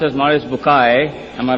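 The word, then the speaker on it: Maurice Bucaille: and a scholar of Quran Dr moris buky pronounced as moris bukai am I right Dr do matter okay uh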